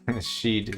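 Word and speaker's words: Sidhe: Ah, and oh wait, that's oh yeah, Sheed. Sheed is like Shidhe or some shit. Yeah, Monsters didn't know how to pronounce it either for like the first book or two.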